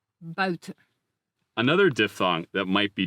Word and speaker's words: buiten: discussed earlier, there is also the UI diphthong, which is pronounced like this, ui, ui. For instance, the sound is found in the words for out, uit, and the word for outside, buiten.